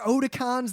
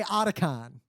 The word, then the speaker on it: Otakon: than we went to, who to this day, despite hearing tens of thousands of people say Otakon and being corrected by us tens of thousands of times, will say Otacon. Yeah. I'm like, no, that's a character in Metal Gear, spelled with a C, and you're an idiot.